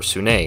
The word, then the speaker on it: Sune: of love and beauty sunni sunni otherwise pronounced as soon or sunni in my experience is the forgotten realms